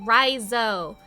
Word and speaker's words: Riso: trying to be nice also it's Riso not that I ever plan on talking to you again but if you're going to say my name say it right oh sure thing nice